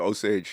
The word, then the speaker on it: Osage: The Osage, yeah. Osage, yes. I always get the pronunciation mixed up, but the Osage joke murders is a serious.